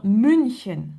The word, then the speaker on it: München: Là, U umlaut, ça devient U, comme dans München, Munich, München, d'accord?